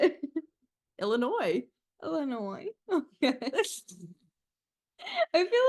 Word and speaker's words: Illinois: you pronounce it Illinois Illinois okay I feel like I got to practice now no you you got it girl Illinois like anoy like think like Illinois is like an annoying ass state